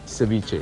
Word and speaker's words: ceviche: a hint of ceviche and how do you pronounce it again ceviche ceviche i was going to ask about the